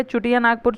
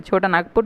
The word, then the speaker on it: छोटा नागपुर: होने लगा ठीक है उनको ब्रिटिशर्स को बोलने नहीं आने लगा तो छोटा नागपुर करके प्रोनाउंस एशन करने लगे छोटा नागपुर चुटिया छुटा नागपुर इस तरह से करने लगे ठीक है उसके बाद